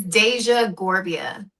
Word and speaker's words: Dasia Gorbea: Yes, it's Deja Gerbia. Okay. Okay, cuz I feel like James butchered that completely.